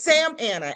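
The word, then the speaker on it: Samana: It's Sam Anna. S A M A N A.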